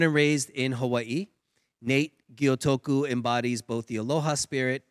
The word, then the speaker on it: Gyotoku: I'm joined by Nate Gyotoku. Perfect. Was that good pronunciation?